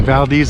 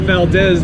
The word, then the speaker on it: Valdez: the Maz Dam mastam in Valdes Alaska are not Valdez because it's a strategic mispronunciation that was coined by early settlers in the 1790s it was a dig at the Russians who were ruling the place at the time oh look at that